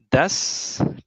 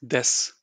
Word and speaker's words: des: Das Teams. not das, des.